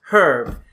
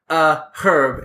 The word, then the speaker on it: herb: was informing us that in the UK they do pronounce herb with an H. It's herb, and so they say herb as opposed to un, because this was a specific example you had mentioned.